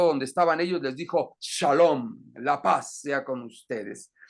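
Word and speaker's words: שלום: una una traducción burda sonaría shalam shalam si me explicó si te suena Precisamente en hebreo se pronuncia shalom que significa paz y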